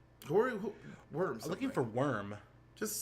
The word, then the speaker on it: Wyrm: Worm. I'm looking for Worm. Just search it again. I did. I searched Worm, but it's spelled differently. It's like I thought it was WYRM. Oh yes, YRM.